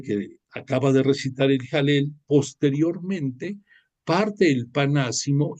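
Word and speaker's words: Hallel: lo ubican como el jalel se escribe con h pero se pronuncia como J jalel que es si tú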